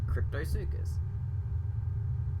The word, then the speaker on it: Cryptosuchus: Because I know about the Dinosuchus, which means I know how to pronounce the suchus part, and crypto isn't too hard. It's just Cryptosuchus.